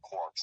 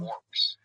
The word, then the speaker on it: quark: actually like broken up into smaller particles called quirks. I don't know if you heard of those before. Of course. Quirse. Like it's spelled qu Oh. Um, quarks.